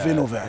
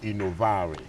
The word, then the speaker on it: Innovare: What's the promise of Innova? Yeah, it has a nice history. Actually, the word is pronounced innovare. Innovare, okay, Innovare. It's the Italian word for innovation.